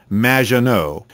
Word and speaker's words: Maginot: Maginot, welcome to the show. Thanks, Amy. However, you have mispronounced my name. It's Madge, which rhymes with badge. As in duh, and no, as in more than you, Maginot.